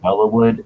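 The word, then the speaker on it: Belleau Wood: I guess it's pronounced Bellawood, and that's where the Germans coined the term devil dog.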